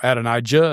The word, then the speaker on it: Adonijah: And Adoniah or Adonijah if you prefer to pronounce J's in Hebrew that don't exist. But Adonia, Adoniah here is he's got a legitimate claim to the throne.